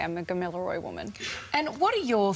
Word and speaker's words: Gamilaroi: Help me with the pronunciation. So, Gamilaroi woman.